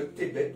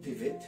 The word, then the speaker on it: Tevet: Alors nous sommes la 10e lune, le mois de Tébet ou Tevet, hein, comme je vous ai dit, la lettre Bet peut se prononcer B ou V.